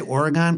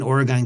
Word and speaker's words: Oregon: and by the way when I say Oregon people in Oregon get they they winse because you're not supposed to say it like that the midwestern way of Oregon it's supposed to be like Oregon or some Backwoods way of saying it I say Oregon that's just how I say it okay and they